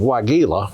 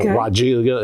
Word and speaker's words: Weigela: The other the other plant that I've got here is a newer cultivar of Weigela or Weigela as some people mispronounce it.